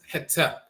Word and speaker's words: Hetep: deity, the male divinity whose name is Hetep. In the Coptic dialect, that's spelled Hotep. People often hear the term Hotep, but Hetep or Hotep, dialectal variants of the same term and so forth.